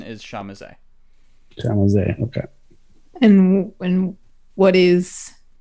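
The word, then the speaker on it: Tzimisce: it's a weird word most people just give it just say zamitsy because that's like what it looks like but the actual pronunciation is shamise okay and when what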